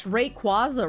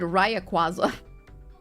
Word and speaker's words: Rayquaza: I always pronounce it wrong. It's Rayquaza, right? I've always said Ryaquaza.